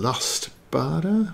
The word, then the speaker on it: Lustbader: author is eric von lust bada i'm going with bada because douglas barter is spelt similar who has more than